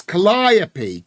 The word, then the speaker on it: Calliope: How do you pronounce that? That, says Mr. Cuff. Funny. Gallipoli. No, what is it called? It's Calliope.